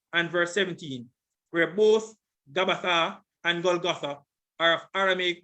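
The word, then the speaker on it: Γαββαθᾶ: This is the Greek, and notice the pronunciation. Strong's G 1042, Gabbatha. Gabbatha.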